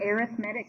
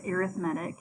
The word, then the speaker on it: arithmetic: Today's notes are on arithmetic sequences, and yes, I promise you it is pronounced arithmetic, even though it looks like arithmetic. But when we're talking about sequences, it's pronounced arithmetic.